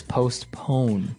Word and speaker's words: postpone: Now, it's interesting because you have a P in between there, so it's postpone.